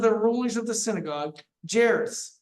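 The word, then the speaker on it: Jairus: rulers of the synagogue jerus by name j a i r u s jerus is how I pronounce it and when he saw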